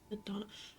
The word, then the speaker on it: Nadana: Nadonna, I have been saying her name wrong.